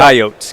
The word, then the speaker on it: Coyotes: I know the Coyotes were young last year. Now, is it Coyotes or Coyotes? What do Coyotes. Coyotes. That's what I thought.